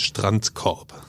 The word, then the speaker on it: Strandkorb: Okay, and pronounce it one more time for me. Strandkorb. Strandkorb.